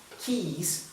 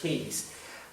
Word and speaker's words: keys: I've just realized that I forgot keys. Preste atenção aqui na pronúncia dessa palavra. Keys. Keys. Você pode perguntar, mas não é beijo? Não. Beijo se fala kiss. Kiss é diferente de keys.